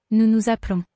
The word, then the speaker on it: nous nous appelons: An S at the end of a French word is silent except when it's followed by a vowel or a H. This means that the S on the end of the first nous is silent, but the second one is heard. There is also only one L in appelons, so the E is making an sound. Nous nous appelons.